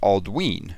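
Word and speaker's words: Aldwyn: Aldwin is pronounced Aldween because of the long vowel sound on the Y.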